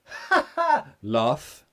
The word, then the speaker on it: laugh: again there's two differences love that's a voiced sound love love vibration love vibration laugh there's no vibration nah it's just air it's no vibration love laughs so love